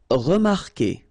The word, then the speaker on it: remarquer: Anyway, you've got to put this vowel U, even if you don't pronounce it. Okay, so it will go like que.